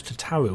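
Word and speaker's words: Tataru: concerned for Tata tattoo how are we supposed to pronounce it it was to Tower wasn't it not tattoo it was I've been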